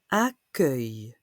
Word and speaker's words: accueil: Accueil. Accueillir is to welcome. Accueil. On voit souvent à l'hôtel, à l'aéroport, réception ou information ou accueil. Normalement, le son œil s'écrit E-U-I-L. Mais là, pour accueil, c'est U-E-I-L.